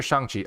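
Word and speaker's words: Shang-Chi: shanxi oh that's fair so technically it's shangqi so shang chi is the official way they pronounce it in the trailer and it's the official chinese way you're supposed to say that's his real name right and you know shang chi is the proper way you're supposed to say it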